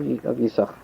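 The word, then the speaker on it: Yissachar: Tosfos says he only pronounced one sin of Yisachar.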